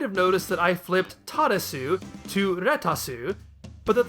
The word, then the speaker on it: Taaresu: noticed that I flipped Taaresu to Retasu, but that the character's name is actually Taaresu, with an extended first vowel sound.